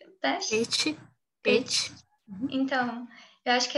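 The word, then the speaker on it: Pécs: a BME e PECS, é PECS que pronuncia? PET.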